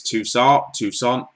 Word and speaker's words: Toussaint: I say his name so wrong. It's Toussaint.